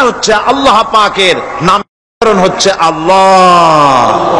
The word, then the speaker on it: আল্লাহ: আল্লাহ পাকের নাম হচ্ছে আল্লাহ মুখটা একটু গোল হয়ে যাবে বলেন আল্লাহ اللہ আল্লাহ اللہ আল্লাহ